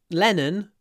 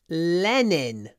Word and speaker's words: Lenin: middle of the square no it's not lenon it's Lenin it's Vladimir ilich Lenin impossible um anyway uh